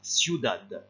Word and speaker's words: ciudad: ¿Quién ha descubierto la ciudad? Faites attention à la prononciation de ciudad.